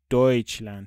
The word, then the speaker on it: Deutschland: ببین اینجا باز داریمش دویچلند تلفظشو نگاه کنید به خاطر ایو و تی اس سی اچه که میشه دویچلند آلمان آلمان آلمان تو